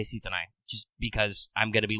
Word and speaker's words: Sitonai: a writing system uh there's some scholarly debate exactly on how you're supposed to pronounce this um the phenome could be sitonai or could be shitonai since one of those things sounds like a swear and usually her name is uh romanized with just the s i for the sake of